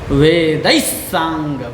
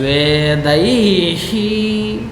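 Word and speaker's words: वेदैः: अब यहाँ पर कुछ लोग बोलते हैं वेदैहि, तो यहाँ पर क्या होगा कि उनके पाठ में गड़बड़ा जाएगा कुछ मामला, तो इसलिए यहाँ पर क्या है, यहाँ पर स है तो इसका वेद का भी जो विसर्ग है इसमें भी स का उच्चारण होगा। ठीक है, ये समझ आ गया।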